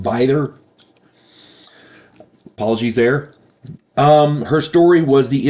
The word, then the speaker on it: Bither: I said it was Bither, and it's not. It's pronounced Bither.